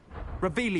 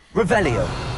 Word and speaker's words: Revelio: Revelius. You're saying it wrong. Revelio.